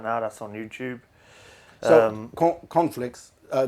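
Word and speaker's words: Conflix: that's on youtube um conflicts uh the way you pronounced it there just can you spell it out because it sounded like corn flakes can you spell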